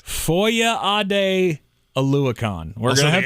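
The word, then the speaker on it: Foyesade: Foye Ade Oluokun. Oluokun. That is correct. Foye Ade Oluokun. We're going to have to say that. Silent. Yeah, so the S is silent.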